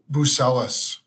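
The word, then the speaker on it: Buzelis: Bucelis.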